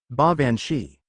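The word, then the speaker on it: baobhan sith: they called a yes ban Sith pronounced ban shei narut crossed his arms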